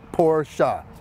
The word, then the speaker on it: Porsche: And by the way, it's also Porsche.